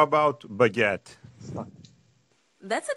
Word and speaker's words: baguette: saying uh how about baguette that's a d one it's pronounced almost like it looks baguette with a little emphasis on the second syllable give it a shot